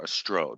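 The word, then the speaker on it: Ostroh: But on a more positive note, Athens, Ohio has a sister city in Ukraine called Ostro, or Ostro. They have pronounced it on the second syllable.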